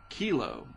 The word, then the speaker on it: Kilo: and then eventually hurricane kilo I think that's how you say it k i l o and uh it'll be headed in the direction uh of Hawaii fortunately it doesn't look like it'll be near Hilo uh kilo headed to Hilo not trying to make fun but it just kind of f odd that it Rhymes right but the western